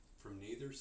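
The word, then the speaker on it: Noether: from Natherther's it's N O E T H E R and so I think that's a long a sound from Natherther's theorem every nether's theorem every differentiable symmetry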